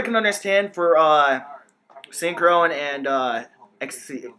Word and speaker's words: Xyz: This card I can understand for synchro and XC. It's called XC still, right? Yeah. For XYZs, yeah. Yeah, you just because pronounce XYZ.